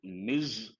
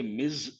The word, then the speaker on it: Ms: misses and what is this Ms Ms we pronounce as Miz or mes it goes with a married or unmarried woman it does not talk about the marital status and you can say Miz or mes z sound M renold who is